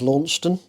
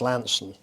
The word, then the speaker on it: Launceston: river board in in in what you would pronounce as Launceston yeah but it's actually pronounced Lansing and that's where I started work in the